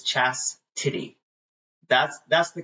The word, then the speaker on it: Chastity: spelling it and they do Chastity but it's Chastity that's that's the correct way to say my